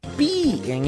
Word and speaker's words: pi: Porque pi em inglês se pronuncia pie e é igual a torta.